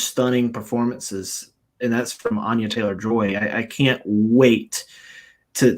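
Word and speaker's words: Anya Taylor-Joy: week I think that her name is actually pronounced uh Anya Anya Taylor joy and I never knew that um so I've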